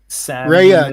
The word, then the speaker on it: Rhea: Rhea, that's how you pronounce her name, Rhea.